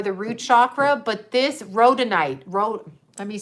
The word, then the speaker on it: rhodonite: they also are the root chakra but this rhodonite wrote let me spell it for you i have it written down